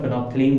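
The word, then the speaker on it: phenolphthalein: देखो यहाँ पे एल छूट गया है, फेनॉल होता है, फेनोल्फथलीन है ना, इसको हम लोग फेनोल्फथलीन बोलते हैं, एल साइलेंट कर देते हैं तो फेनोल्फथलीन पढ़ते हैं।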